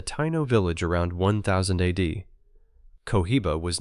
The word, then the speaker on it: Cohiba: They called the role Kohiba. Two syllables that would centuries later end up on the band of the most famous cigar brand on Earth.